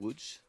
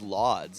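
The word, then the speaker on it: Łódź: impressive is that well i thought it was pronounced lods and everyone was like no that's not how you pronounce it you started off with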